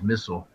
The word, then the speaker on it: missile: their aluminium line so do they pronounce it missile or missile it is missile rhymes with fissile everything this missile missile